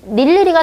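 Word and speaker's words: 늴리리: 자음을 첫 소리로 가지고 있는 이, 닐리리가 대표적인데 닐리리에서 의는 이로 발음한다.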